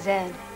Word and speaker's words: Zed: General what's his name Zed rhymes with dead and meet me in